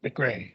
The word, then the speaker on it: McCrae: McCrae.